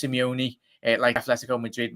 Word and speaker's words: Simeone: one hey brighter this it's pronounced simeone it likes let's go